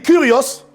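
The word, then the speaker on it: κύριος: Du grec kurios ou kurios. K-U-R-I-O-S. On écrit kurios, mais on prononce kurios.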